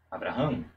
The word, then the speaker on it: Abraham: Abraham. Abraham é uma pronúncia corrida, você não para.